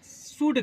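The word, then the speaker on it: should: आप पढ़े होंगे क्या शड का शड कुछ बच्चे उसको इसको बोलते हैं क्या श यल में डी के पहले ल आता है तो एल साइलेंट हो जाता है इतना माइंड में रखिएगा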